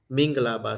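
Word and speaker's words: မင်္ဂလာပါ: we greet you Minglaba mingalaba so mingala from mangala right manga Mala in pal in My pronounce mingala. So they pronounce mingalaba.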